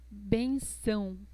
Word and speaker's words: benção: Entonces, benção. Colocamos el sonido nasal en la letra A.